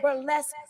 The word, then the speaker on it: burlesque: a burlesque dancer baby burlesque rhymes with flesh okay I'm gonna